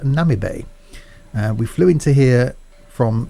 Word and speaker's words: Namibe: time which I've just been told is the pronounced Nami Bay we flew into here from st.